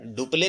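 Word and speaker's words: Dupleix: यहाँ पे थोड़ा सा प्रोनाउंसिएशन सही जो लिखा हुआ सही नहीं है, वो डुप्ले था जो कि फ्रांसीसी गवर्नर था उस समय, ठीक है।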